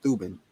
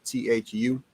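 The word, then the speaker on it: Thuban: being is that last because it's a two-syllable word t-h-u-b-e-n ben is that last syllable so ben ben or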